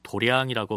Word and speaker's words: 도량: 참고로 길 도자에 마당 장자를 쓰는 도장을 불교에서는 도량이라고 발음하는데요.